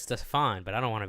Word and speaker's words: Stephane: So, I guess I'll start off by asking you, what is the exact correct pronunciation of your first name? Stefan. Okay, so it is the- Stefan.